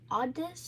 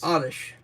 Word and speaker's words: Oddish: Oddis. Oddish. Very good. A how you pronounce s wa.